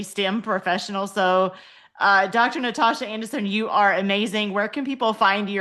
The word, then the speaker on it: Natoshia: Natasha is spelled N A T O S H I A. Don't talk about it. It is my name. Okay. So, um and it's spelled and it said Natasha. So, you don't have to worry about saying all the syllables.